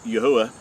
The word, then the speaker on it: Yahuah: how we know that his name is pronounced as Yahuah, and not as what most people think as Yahweh or Jehovah, and all these hybrid names.